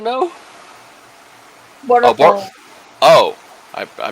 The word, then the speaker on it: Boruto: Abortion? No. Boruto. Oh, I mispronounced it.